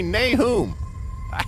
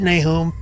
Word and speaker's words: Nahum: kind of call me Nahum. That's the way my mama pronounced it. I'll bet you say it the Bible way. Yeah, that's right, Nahum. Nahum is the Hebrew pronunciation. Nahum is more Americanized.